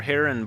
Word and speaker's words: Butte: All right, or Butte, Montana. The E is silent.